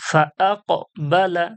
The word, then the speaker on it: فأقبل: ফাআকবালা, ফাআকবালা। আকবাল, যেভাবে নিচে যেভাবে এই উপরে আমরা বানান করে করে পড়লাম এগুলো, এইভাবেই বানান করে পড়তে হবে।